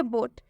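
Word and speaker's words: boat: next example देखिए बोट बोट में भी सेम वही है ओ है और ओ के बाद से ए आया है और जब भी ओ के बाद से ए आएगा तो इस ओ का उच्चारण ओ से हो जाएगा मतलब कि ओ की मात्रा से हो जाएगा यहां पर ब में देख सकते हैं ओ की मात्रा लगा हुआ है बोट बोट मतलब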